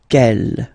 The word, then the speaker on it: quelle: Quelle, masculine form here, will be pronounced exactly as the feminine form here. Quelle. So only one sound, okay?